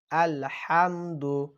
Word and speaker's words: আলহামদু: বলুন বিসমিল্লাহির রাহমানির রাহিম আলহামদু হা শব্দটি সকলে শক্ত করে উচ্চারণ করবেন আলহামদু লিল্লাহ অনেকেই বলে